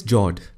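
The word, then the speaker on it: fjord: norway russia and sweden the next one is jord the f word is silent when you pronounce it these are a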